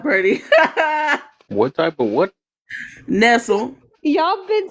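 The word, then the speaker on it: Nestlé: Nestle.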